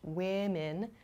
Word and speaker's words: women: particular woman and women the first vowel o here does not change in terms of spelling but in pronunciation it does change women sounds much different than the singular form woman so please be careful